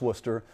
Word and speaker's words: Worcester: the worcester centrum so i've known how to pronounce worcester for a long time can't get half the